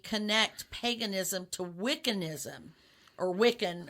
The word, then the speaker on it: Wicca: Well, and I think some people mistakenly connect paganism to Wiccanism or Wiccan.